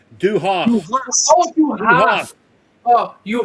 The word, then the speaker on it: du hast: Here's the pronunciation. Du Hast.